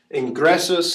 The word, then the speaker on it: ingressus: would take the accent ingresos here at the very end i-n-g-r-e-s-s-u-s entering or having entered second to last syllable grass we have two consonants a double consonant so that would take it again if it's not long